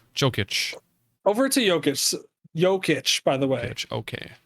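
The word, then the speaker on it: Jokić: Jokic, by the way.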